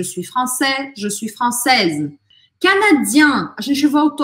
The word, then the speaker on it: canadien: Então, no masculino, eu só faço a voz anasalada. No feminino, eu pronuncio o N. Canadien, canadienne.